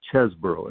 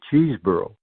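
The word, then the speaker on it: Chesbro: names was Jack chesboro as a kid he was always called chesboro and that that has been changed by saber to cheeseboro and I I maintain the old pronunciation is correct and uh there's only one e in there yeah there's only one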